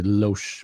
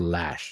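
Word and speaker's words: Loesch: from you know Dana I want to say Lo but apparently it's pronounced lash you know who this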